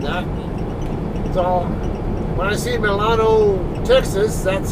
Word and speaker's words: Milano: it's i don't know what the locals call milano they might call them island or whatever it's